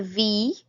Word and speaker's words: wie: You just got to remember wie, so it's a V sound, not a W, so it's not we, it's V, and it's not Y, it's I-E, so E, V. Remember we pronounced the second of those combinations, so I-E pronounced E.